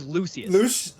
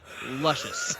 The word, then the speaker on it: Luscious: I've changed it to my PlayStation name, and nobody can pronounce it properly. It's always Lucius. Oh God. Lucius. Yeah, you get Lucius, you get Lucius. You never ever get somebody that can pronounce luscious.